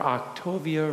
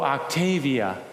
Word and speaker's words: Octavia: great hope was the birth of his granddaughter, Octavia Rose Waite. Oh, did I say it wrong? What did I? Oh, Octavia.